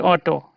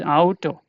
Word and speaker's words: Auto: So auto, not auto in English. This is auto. Ow toe.